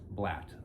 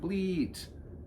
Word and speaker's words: blat: When I say grunt, bleet blat. That blat. Short syllables. Not bleet. Blat.